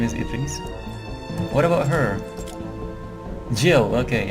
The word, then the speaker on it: Idris: I mean, it's not pronounced Idris. It's in Arabic. It's pronounced Idris. So it's like instead of the I, there would be EE. So it would be Idris.